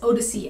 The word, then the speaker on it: OHDSI: data sciences and informatics odyssey and it's pronounced as odyssey as in you know homer's odyssey it's an international collaborative